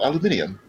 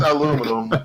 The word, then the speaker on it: aluminium: Yes, that's what it's called, aluminium. I forgot to say aluminum. Holy shit, it actually is called aluminium. It is aluminum in America, but the British say aluminium.